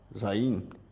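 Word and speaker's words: Zayin: e elas são ferramentas chamadas de destruição, que em hebraico é pronunciado Zain, e você está aparentada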